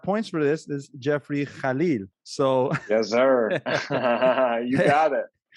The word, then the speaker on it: Kallil: But apparently the right way to pronounce it, and I got points for this, is Jeffrey Kallil.